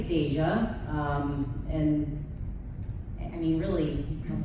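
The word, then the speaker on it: Dejah: Is it Deja or Deja? Because I was just told on the floor that it's actually pronounced Deja. Does anyone know? Deja. It's Deja.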